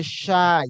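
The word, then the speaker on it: شاي: Okay, and for chai, chai in Arabic we say shy, because there is no chai in Arabic. They say shy.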